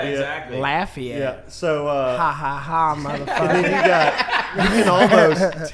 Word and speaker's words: Lafayette: getting it right so i wouldn't say laugh yet i didn't know it was lafayette yeah exactly lafayette yeah so uh you